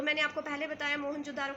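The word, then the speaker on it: Mohenjo-daro: तो मैंने आपको पहले बताया मोहनजोदारो का मतलब होता है माउंट ऑफ डेड, और इसकी सही प्रोनाउंसिएशन है म्योनजोदारो.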